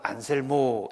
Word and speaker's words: 안셀무스: 주교가 대주교 역할을 했던 안셀 무스 라는 분이 있습니다 중세식 발음으로는 안셀모 입니다 안셀모 슷 이 주교의